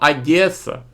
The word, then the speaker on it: Одеса: пам'ятнику імператрица основательница города Одеса Ну не можуть люди вимовити букву о Одеса щось криве але точно